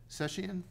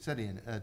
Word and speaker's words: Sedian: So I'll move to appoint Jill Sessian. Is that how you pronounce her name? Sedian. Yep. Sedian, to the Veterans Council for a three-year term ending June 30, 2025.